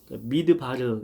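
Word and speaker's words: מדבר: 몰고 가셨을까요이 광야를 그 히브리어로 미드바르 이렇게 발음하죠 미드바르 그리고 말씀은 다바르 비슷하죠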